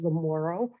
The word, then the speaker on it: Lamoureux: to say my name it's uh sister lamoro and um i before coming here i was